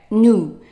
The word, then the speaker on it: nous: So for we say, read it, right, nous, don't pronounce the S.